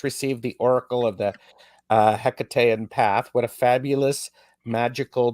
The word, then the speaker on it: Hekate: Yeah, so I mean, I say Hekate, or generally sort of something that's similar intonation. Obviously, the ancient Greek version, there was no hard H, and so it was more like a Hekate sort of sound.